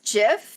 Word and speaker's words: Jif: They said that there was never Jiffy.